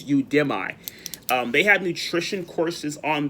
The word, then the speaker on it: Udemy: It is spelled Udemy. It's Udemy.